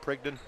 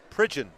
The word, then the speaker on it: Pridgeon: Clarksville Academy reporting is that Prigden? Pridgeon. D-G-E-N.